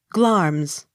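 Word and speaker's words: Glamis: g hard g l a m i s glarms g o r g e s georges the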